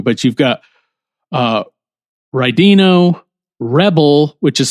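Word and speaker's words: Wrebil: But you've got uh Rino, Rebel, which is spelled W R E B I L, but I pronounce it Rebel.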